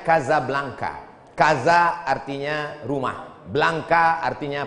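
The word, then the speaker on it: Casablanca: Hasan dua di Kota Kasablanka Hai ibukota Maroko tempat saya kuliah nama negaranya Maroko ibukotanya tulisannya Caca blancha Hai cara bacanya Kadzab langka Gaza artinya rumah Blanca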